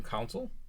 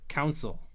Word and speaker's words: console: Criticize your usage of the term console? I say council, but it's console. Oh. But I say it like Console? yeah, it's like console.